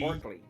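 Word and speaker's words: Orcly: Is it pronounced Osley? Orkley. Or, blah, blah. Orsley. No, Orsley farm. Orkley. O-R-C. Orkley.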